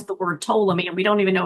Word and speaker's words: Ptolemy: I say it's hard to pronounce because it starts with a P, but it's pronounced with a T.